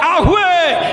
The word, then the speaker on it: യാഹുവേ: എടുക്കരുത് എന്ന് പറഞ്ഞതുകൊണ്ട് യഹൂദന്മാർക്ക് ഉള്ളിൽ ഒരു പേടിയുണ്ടായി ദൈവത്തെ യാഹുവേ എന്ന് വിളിക്കരുത് name is the one who is ഉള്ളവൻ ഉണ്ടാക്കുന്നവൻ നിയന്ത്രിക്കുന്നവൻ ഇപ്പോഴുള്ളവൻ സർവ്വശക്തൻ ആ പേര് എടുക്കരുത് അതുകൊണ്ട് അവർ എന്ത് ചെയ്യാമോ യാഹുവേ എന്നുള്ള വാക്ക് തെറ്റിച്ച് യഹോവ അഡോണായ് എന്ന് പറയുന്ന ലോർഡ്